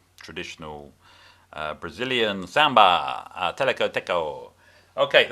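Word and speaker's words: teleco-teco: uh brazilian samba a teleco deco okay that's an onomatopoeic name by the way i'm not mispronouncing it it's because of the tech goal of the percussion okay if you like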